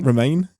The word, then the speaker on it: Romijn: I will say that I did enjoy, I can never say her name, Rebecca Romijn? Una. Romaine?